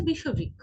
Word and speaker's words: বিষবৃক্ষ: তারপর রয়েছে বিষবৃক্ষ, এটা কিন্তু বিষবৃক্ষ নয়, এর সঠিক উচ্চারণ হবে বিষবৃক্ষ, বিষবৃক্ষ, বিষবৃক্ষ।